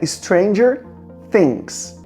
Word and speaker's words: Stranger Things: e eu já quero começar falando sobre a pronúncia do nome da série que é Stranger Things.